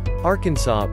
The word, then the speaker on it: Arkansas: Arkansas, pronounced without the S at the end, is a state located in the southern region of the country.